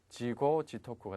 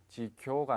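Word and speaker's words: 自業自得: 자업 자득 발음에 주의를 하셔야 되겠죠.지고 지고 지토크가 됩니다. 지교가 아니라 지고가 된다는 것 주의하시기 바라겠습니다.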